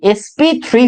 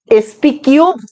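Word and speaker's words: sp3: এসপি টু হইতে পারে, জিনিসটা হইতে পারে কি এসপি থ্রি হইতে পারে। এগুলারে কিন্তু স্কোয়ার বললেন না, এসপি স্কোয়ার বলবো না, এসপি কিউব বলবো না, এটারে কি বলবো নরমালি উচ্চারণ কি হবে?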